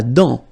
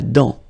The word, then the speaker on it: dent: La dent. Final T not pronounced. La dent.